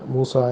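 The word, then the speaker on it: موسى: அதில் அலிஃப் மக்சூரா என்று சொல்கிறோம். அது யாமாய் ஒரு அலிஃப் போட்டு முடியுது. அதுதான் மூசா என்று அதை ப்ரொனவுன்ஸ் பண்ணுறேன்.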